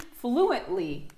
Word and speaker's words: fluently: Bam! Accent tonique sur la première syllabe.